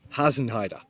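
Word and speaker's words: Hasenheide: Susan you can do the correct pronunciation of the Berlin Park run which is has an Haider hasn't Haider and it means funny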